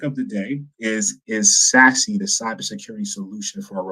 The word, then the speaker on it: SASE: pronounce it s-a-s-e um it's absolutely pronounced sassy from but not have